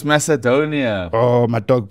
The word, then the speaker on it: Macedonia: you one lvia versus North macadonia Macadamia is peanuts dog what you North Macadamia is Republic no it's Macedonia oh my dog pronunciation